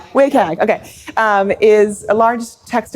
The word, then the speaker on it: WCAG: How do you pronounce it? WCAG? WCAG, okay.